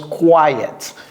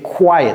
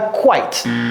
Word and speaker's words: quiet: A quiet, ça se prononce quiet. Je vais faire ça avec du bleu. Quiet, ok, quiet. C'est pas quite, quiet, c'est-à-dire calme.